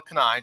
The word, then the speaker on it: Kanae: Russell's really excited, so he mispronounced that. Kanae, just so we're clear. And don't worry, almost nobody gets it right.